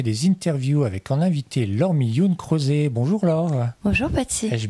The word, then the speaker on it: Laure Mi Hyun Croset: Bonjour et bienvenue dans un nouveau numéro de Patsy fait des interviews avec en invité Laure Millioun-Crozet. Bonjour Laure. Bonjour Patsy. Ai-je bien prononcé ton nom?